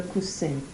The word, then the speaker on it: coussin: And then cushion, le coussin. Le coussin. Le coussin. Not le coussin or le coussin. Whatever I said before, you don't pronounce the N.